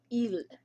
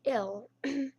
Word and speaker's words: il: The masculine is il. It's spelled like ill, so I-L-L, but it is pronounced as il.